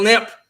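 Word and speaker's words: Knipp: subscribed to all of these wonderful people nip nip my name is it's spelled k-n-i-p-p i have a booktube channel where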